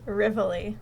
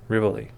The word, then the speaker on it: Rivoli: what it's actually pronounced rivoli rivoli rivoli okay what was i saying the rivoli well i'm saying it the italian way oh so you're saying